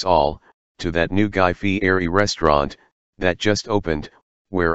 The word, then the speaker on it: Fieri: I know it's supposed to be pronounced Fieri, but I have a bit of trouble with it sometimes.